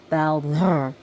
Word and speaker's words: Baldur: So as you can see how I'm pronouncing his name is Baldur. A soft E and a rolled R.